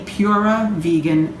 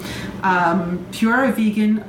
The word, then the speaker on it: PuraVegan: That's P-U-R-A, PuraVegan Cafe. I just wanted to spell it out so you didn't think I was just saying pure wrong. PuraVegan Cafe.